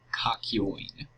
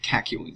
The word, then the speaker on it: Kakyoin: Alright, Kakyoin. Or Kakyoin, sorry. I don't know why the hell I pronounced it like that.